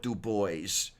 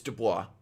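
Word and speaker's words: Du Bois: um they call it du boys I mean to look at it it's duah but uh it's not to look at it it's du boy it's just the Fringe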